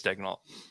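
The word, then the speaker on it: Daigneault: I said it's Dagnalt, and he was like, "What? What?" I was like, "Yeah." I was like, "That's what you're falling for the broadcast. The broadcast is saying it wrong."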